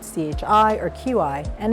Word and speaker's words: qi: One of the most important concepts is qi, and you can see it spelled C-H-I or Q-I, and it's pronounced qi.